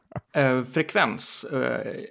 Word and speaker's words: Frekvens: Do you pronounce it Frekvens? Yeah, thanks for doing that wrap up. That was really cool. Good. Frekvens in Swedish is frequency.